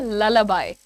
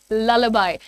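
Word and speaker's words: lullaby: Please listen to the pronunciation. इसको कुछ भी और नाम से नहीं बुलाए। डबल एल है जहान वन 65 कैन you please right it properly. It इज़ लबाई। कैसे बोलोगे आप? ल बाय। ठीक है? लबाई नहीं लबाई। ओके। ये भी हटा दो फिर। लबाई बोलेंगे आप।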